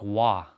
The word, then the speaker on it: Roy: So like are the same like but they don't say Roy they say Pat they say uh so like there's a famous goalender from the Montreal uh Canadians or can Canadians named Patrick Wah so instead of it saying Roy they say Wah R O Y Patrick